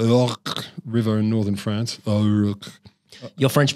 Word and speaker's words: Ourcq: Ourcq. Your French pronunciation has gotten better over the summer.